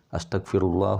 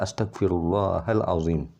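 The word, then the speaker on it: أستغفر الله العظيم: tahu So ini keliru Astagfirullah itu salah tapi yang betul adalah Astagfirullahaladzim Hai karena mustahil ada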